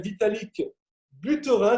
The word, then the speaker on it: Vitalik Buterin: Alors le créateur, pour ceux qui ne le connaissent pas, il s'appelle Vitalik Buterin, je le prononce à la française, hein, c'est un russo-canadien.